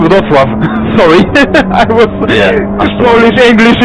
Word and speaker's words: Wrocław: Yeah, I've been to, I don't know how you pronounce it, but Wrocław? Wrocław.